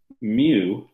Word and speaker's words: mu: it over here okay this is called a mu it's spelled m u mu mu is the coefficient